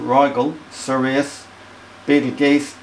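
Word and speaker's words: Rigel: the north okay so we say ryal pronounce it ryal serus Beetle geese pronounced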